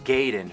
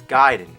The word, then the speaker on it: Gaiden: Everyone always said Ninja Gaiden, but I know for a fact it's Gaiden.